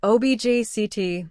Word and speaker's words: object: The same thing happens with the word object. Object means a thing, but objct means to disagree.